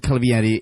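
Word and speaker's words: Calvierri: I googled Calvieri in case it was a historical reference or something.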